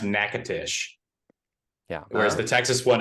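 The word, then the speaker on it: Natchitoches: yeah I know the the Louisiana city is pronounced nakatish yeah whereas the Texas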